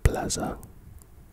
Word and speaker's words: Plaza: your native Spanish speaker notice that the pronunciation in English has a vibrated Zed sound not a soft s Plaza you Spanish speakers watching